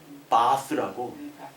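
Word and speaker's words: Bath: 바스라고. 베스가 영어잖아요. 근데 영국 발음 바스.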